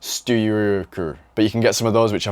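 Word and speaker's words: Styrkr: It looks like Striker, but there's no vowels in it. It's just Styker.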